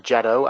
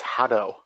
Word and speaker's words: Jado: And wait, it's pronounced Jado. I pronounce it as Hado. No, it's Jado because I stole it from Beautiful Joe.